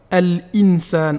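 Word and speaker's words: الإنسان: Par exemple, al-insan. On doit bien prononcer le lam.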